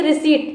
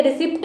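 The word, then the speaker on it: receipt: next है correct spelling बतानी, इसमें भी किसकी, रिसीट, ठीक है, रिसिप्ट नहीं होती है, रिसिप्ट नहीं, किसको या इसको बताएं रिसीट, क्या पढ़े इसको, रिसीट पढ़ते हैं, रिसीट, ठीक है, तो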